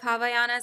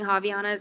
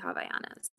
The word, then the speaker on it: Havaianas: with hawaiianas um so this is the proper pronunciation of havayanas i think i've always been saying havianas and i feel like a lot of us